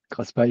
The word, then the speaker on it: Craspay: Ouais, dans le sud, on dit Craspet.